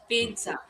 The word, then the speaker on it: pizza: This one very commonly used word pizza. So there is a t sound.